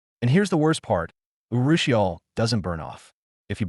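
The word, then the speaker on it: urushiol: It's a plant oil called Urusial, pronounced URL.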